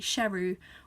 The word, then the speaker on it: Sheru: end so you learned that series actually been mispronouncing his name his whole life his name was actually Sheru which is Hindi for lion so that's why